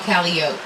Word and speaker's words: Calliope: Now, Calliope, that is a musical instrument on a riverboat. We'll call that a calliope all day long. The street, however, is called Calliope.